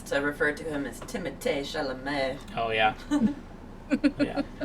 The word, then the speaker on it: Timothée: My favorite thing now is to refer to him as Timothée Chalamet. Oh yeah. Yeah. It's not Timothy. It's Yeah, that was a fun interview. it's Timothée.